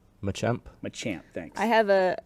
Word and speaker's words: Machamp: 645 one of the E Evolutions mine's a man champ Machamp Machamp thanks I have a a Taurus I